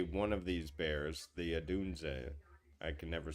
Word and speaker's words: Odunze: I know you're gonna play one of these Bears, the Adunze. I can never say his name. Yeah, Rome. yeah. You had it, Rome Odunze.